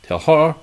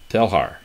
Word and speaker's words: Teilhard: the name of Pierre Teilhard de Chardon. I'm not too good with French. I didn't take Pierre. Pierre's French. Pierre Teilhard de Chardon. Teilhard, as the D is silent, I remember. Teilhard, okay.